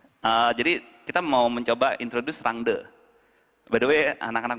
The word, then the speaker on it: Rangda: By the way, anak-anak Bandung pada bilangnya Rangda. Terus saya the only one ngomong Rangde. Kebetulan ada satu tim Bali di sana. Terus saya bilang, finally there is someone that mention Rangde dengan right pronunciation katanya.